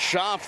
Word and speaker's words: Schaff: That's Schaff that drops it in. And the sophomore outside hitter gives the Wolves a 4-2 lead on the BNC National Bank scoreboard. Yeah, nice job pronouncing her name right, because I talked to